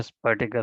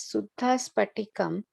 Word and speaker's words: स्फटिक: Sorry, in the previous one, you are pronouncing it as Suddha Spatikam, but in Devanagari it is Shuddha Sfa. It's Fa or Pa? It should be Spatika.